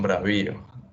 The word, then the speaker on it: bravíos: ¿Dónde está el acento? Entonces son bravíos. Ajá, ¿verdad? Porque el acento está ahí en la I.